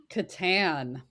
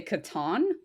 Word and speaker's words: Catan: How do you pronounce Klaus Teuber's game, The Settlers of? Catan.